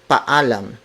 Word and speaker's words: paalam: part of the sentence in Filipino we do not combine double vowels each vowel is pronounced separately so it's Pullum not paalam again but